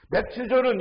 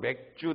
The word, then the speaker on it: 맥추: 그래서 하나님이 그들에게 농사 짓고 그들에게 수학을 준 것을 감사하면서 추수 감사절 우리는 그것을 맥추 감사절이 발음을 잘못하면 맥주 돼서 맨날 웃는데 맥추입니다.